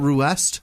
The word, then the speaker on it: Ruest: And Paul Ruest. I learned Roost how you pronounce that. Ruest it is with his memes.